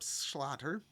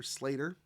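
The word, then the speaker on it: Sclater: in 1854 British zoologist Philip Schlatter or Slater it's spelled weird but he's British so maybe it's Slater I'm gonna call him Slater okay AC Slater there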